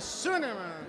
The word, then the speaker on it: Schünemann: É Werner Schunemann. Isso, Schunemann. Mentira, eu falei certo. É, porque não faz sentido fazer a pronúncia alemã desse nome, né? Schunemann, pronto. O alemão é um pouquinho mais diferente, mas não tem problema.